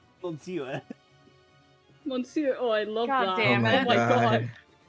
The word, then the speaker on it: Monsieur: I just now noticed in that game sent squish that the sewer is labeled Mon Sewer. I didn't pick up on that. Like mispronouncing Monsieur. Monsieur.